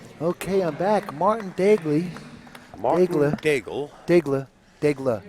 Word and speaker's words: Daigle: Daigle is the proper pronunciation.